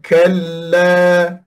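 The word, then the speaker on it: كَلَّا: ada lam lam sini ada lam jadi lam mati dulu kal dan la hidup semula la jadi ada inhiraf di hujung ni iaitu melencong bacanya kalla kalla tekan kan kalla baik dan pada huruf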